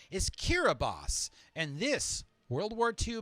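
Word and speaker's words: Kiribati: DS language is pronounced s thus the nation's pronunciation is Kira boss and this World War two battle ate all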